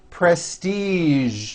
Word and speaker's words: prestige: casual television very good now there are only a few words that have the voiced sound at the end a few of these words are the color beige the word massage and the word prestige Shh okay now that